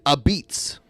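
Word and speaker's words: apizza: they spell it a-p-i-z-z-a they spell it with an a at the beginning and they pronounce it a beats which makes no sense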